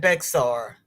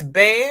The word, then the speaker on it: Bexar: which is Mahia and my county is be I always call that Bexar it's be be now see I would